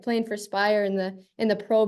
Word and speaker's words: Speyer: But first playing for Speyer, is that right? Yeah, perfect. I won't try and say the rest of the name, but I know where it is. Yeah, right. Yeah. Right. Playing for Speyer in the Pro B League.